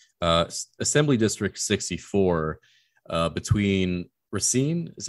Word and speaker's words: Racine: bluer in kenosha uh assembly district 64 between racine is how you pronounce it between racina and kenosha yeah between racine and kenosha this